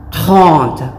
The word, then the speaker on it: trente: Trente. Gaya ng paulit-ulit kong sabihin, practicein lang natin ang letter R. Okay. It is pronounced as trente.